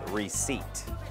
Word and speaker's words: receipt: ออก เสียง ตัว P is P is a silent Letter in the word receipt โ This is my receipt alr al Right Let's